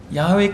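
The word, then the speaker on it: 야훼: 번역된 칭호가 야외 입니다 원래 히브리어로 야외 라 발음하는 것이 옳다고 자들이 얘기를 합니다 야외 라고 하는 침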